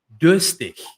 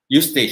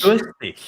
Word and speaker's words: durstig: Ich bin durstig. Ich bin Justig. Durstig. Pronounce the last words again. Durstig. D. Durstig. It starts with a D, Denmark.